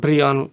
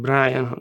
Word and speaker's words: Brian: "shtooff" for stuff, and "Bree-uhn". That was my name, you know. But we didn't pronounce it like Brian. Everyone said "Bree-uhn".